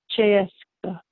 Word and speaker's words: Cseeszka: The first three letters, the C-S-E, that says you're American Che. So it's not as difficult as it looks. It's pronounced Cseeszka.